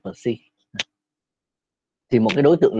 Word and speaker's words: psi: Thì ký hiệu của nó là psi, nên đọc là psi.